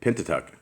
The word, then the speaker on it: Pentateuch: Pentateuch.